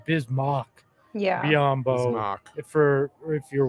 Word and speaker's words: Bismack: throws you though because it's spelled mac m-a-c-k so i feel like that's why people always get confused because when they're looking at the name they're gonna pronounce it kind of like that but it is bismarck we do it on